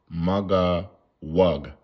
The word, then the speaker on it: Magog: Okay, how you say Magawug. Magawug. That's how you say it.